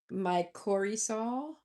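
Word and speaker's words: mycorrhizal: Um and it's pronounced mycorhizzal.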